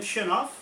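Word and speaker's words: Chernov: Is that how you pronounce his name, Churnov?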